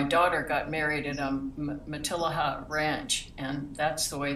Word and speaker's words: Matilija: a i think oh so you say the elves okay i just thought it was like tortilla the way it's spelt you know so i know so it's not it's not uh spanish i used to say it material that was way wrong sounds good though it